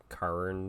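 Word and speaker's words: Khorne: like sometimes there's a corn worshipper out there but they don't pronounce a corn it's like Karin or something I wonder if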